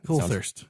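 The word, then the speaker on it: Coulthirst: Colthurst? Yeah. Coulthurst.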